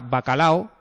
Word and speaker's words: bacalao: que oigo la palabra bacalao, eh, aquí no hay nadie que diga bacalao, ¿no? Bacalao son tres sílabas, ¿vale?